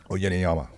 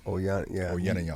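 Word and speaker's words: Uyenoyama: Oyeniyama. Oyeniyama.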